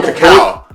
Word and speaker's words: cacao: Is this cocoa or cacao?